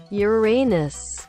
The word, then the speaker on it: Uranus: También el chiste de Urano, donde en inglés Urano suena exactamente igual a tu ano. O sea, no específicamente al tuyo, sino a la pronunciación. Ustedes entienden. Uranus.